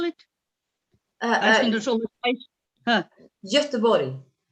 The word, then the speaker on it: Göteborg: Göteborg. Göteborg. Wow. Very good pronunciation.